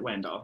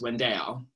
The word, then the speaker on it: Wendell: oliver wendell holmes but no one in the south pronounces it wendell so it's windale and growing up i